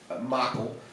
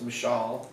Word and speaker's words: Michal: I'm going to say Michael, but it's not Michael, I think it's Michal or something like that along those lines, but I'm going to say Michael for my easiness of pronouncing it.